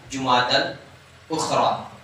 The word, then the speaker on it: جمادی الاخری: اصل تلفظ جو مہینے کے نام میں نے بتایا تھا آپ کو، جمادی الاول جمادی الاخر نے جمادی الاولی جمادی الاخری کیا ہے؟